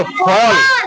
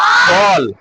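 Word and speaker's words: fall: फॉल। क्या बोलेंगे इसको? फॉल, वॉल, toll, बॉल। मतलब उच्चारण बदलना नहीं। अब जैसे ऐसे नहीं, फाल बोल रहे, बाल बोल रहे, ऐसे नहीं। फॉल, वॉल, कॉल, वॉल, है ना।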